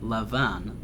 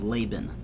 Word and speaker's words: Laban: just a note here i'm going to pronounce his name as lavon because that's the um how the hebrews pronounced but perhaps you are familiar with him being called laban but those are the same the same people jacob approaches lavon and